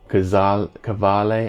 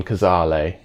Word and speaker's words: Cazale: Robert De Niro, Christopher Walken, John Savage, John Cavale. I never remember how to pronounce his name. John Cazale.